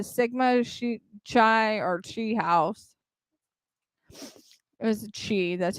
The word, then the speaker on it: Chi: It was Chi, that's how you pronounce it, of the University of Idaho campus at 735 Nez Perce driven.